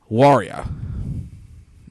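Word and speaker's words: Huayra: guy's is the Pagani warrior at least that's the way you pronounce it in Italian I know spelled like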